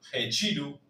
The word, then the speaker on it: retiro: La r al inicio que va a sonar fuerte. Re. En nosotros en español decimos re. En portugués va a ser con la h. Recuerden g. La t con la i se va a leer chi y la o final como uchiru.